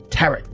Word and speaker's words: tarot: Okay, tarot deck. Tarot, Dad. Tarot, parrot, tarot. You wouldn't say paro.